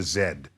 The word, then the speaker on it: Z: and so they get they pronounce it in the way that the British say our letter Z so it's called The W and the Zed particle all right now